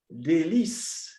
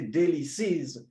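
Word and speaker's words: Délices: far he was from de lis i know that many people uh like to say daily sees but i prefer delis yeah their pronunciation that's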